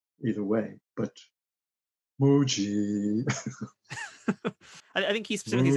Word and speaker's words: Moogie: It's a moo. It's a definite moo, and then a gi, or it could be a g, moo-gi, I guess. Either way, but Mooji.